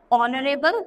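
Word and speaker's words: honourable: एन ऑनरेबल mayor. तो ऑनरेबल ऐसा लग रहा है ना कि ओ से स्टार्ट कर रहे हैं, क्योंकि एच यहाँ पर क्या होता है, साइलेंट, इसलिए इससे पहले भी एन आया.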